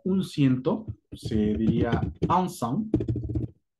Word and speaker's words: cent: Para el 100 existe la forma que digas como un ciento, se diría un cent, o literalmente solamente cent. La pronunciación de C-E-N-T, C-E-N-T, será cent. Cent.